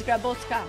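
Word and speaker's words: Grabocka: Well, a lot of people call me Grabotska, but he did pronounce it well because my last name is Grabotska.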